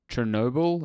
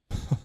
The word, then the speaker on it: Chornobyl: I think it's called Heart of Chernobyl. It's not. Yeah. It's spelt differently It's for obvious reasons. Chornobyl.